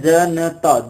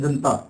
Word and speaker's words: जनता: शब्द लिखा है जनता, शब्द तो सही है जनता, जनता, लेकिन हमारे मुख सुख के कारण इसको बोल देते हैं जनता। हम इसको क्या बोल देते हैं, जनता, यानी न का उच्चारण है वो स्वर रहित कर दिया जाता है।